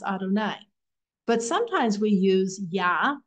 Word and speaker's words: Adonai: name God's four-letter name is yud and V which we pronounce Adonai but sometimes we use